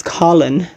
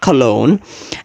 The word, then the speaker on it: Colin: His name was Colin. That's how you pronounce it, huh? It's not Cologne. It's not colon, because that's a body part.